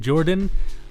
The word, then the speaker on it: JorPHdan: JorPHdan says that the PH is silent and we're just supposed to call him Jordan.